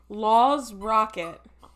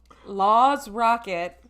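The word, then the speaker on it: Lord's Rocket: of this podcast by what are the umlauts over the A? What's that pronunciation? Like Rammstein. Oh, okay. So like Law's Rocket. Yep. Law's Rocket. Yeah. Sings the song Leatherface. Law's Cocket.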